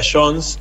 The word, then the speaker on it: Jones: Bueno, lo podés pronunciar como quieras, se pronuncia Jones en bien.